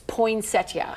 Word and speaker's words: poinsettia: Poinsetta or poinsetta? Oh, that I thought you were going to ask me a different controversial. Okay. Okay. So, phonetically, it's poinsettia.